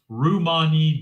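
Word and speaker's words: Ramani: It's pronounced Rummani.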